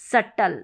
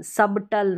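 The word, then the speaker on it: subtle: यानी B silent अब इसको सबटल पढ़ दिया बी के बाद में टी है यहां पर भी बी के बाद में टी है तो यहां पर सभी में बी साइलेंट है इसको डाउट प्रोनाउंस करेंगे इसको डट और इसको सटल सटल सबटल नहीं सटल क्योंकि बी तो हमको यहां पर साइलेंट रख ना है रूल के अनुसार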